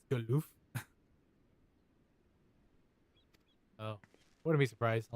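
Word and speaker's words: Galuf: Also, I think I've been saying Gallup's name wrong. It's Galof.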